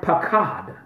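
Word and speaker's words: paqad: It's the Hebrew word pakad, pakad. The transliteration of that pakad is spelled P-A-Q-U-A-D.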